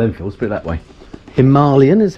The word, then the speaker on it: Himalayan: put it that way himalayan is how it's properly pronounced did you know that i did not know that okay i've heard that yeah that's how the indians pronounce it must be right and